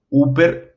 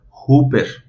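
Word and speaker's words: ὑπέρ: En este caso, Upper no se pronunciaría literal U, se tendría que agregar como un sonido de una J o de una H, y en este caso sonaría como Hooper.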